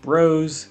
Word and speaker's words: Bros: they were last time yes I'm saying it like Bros that's not a mistake it's how I'm choosing to say it of the two